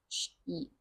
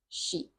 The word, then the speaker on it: sheep: So here we have a short I sound, ship, ship, and here we have a long E sound, sheep, sheep.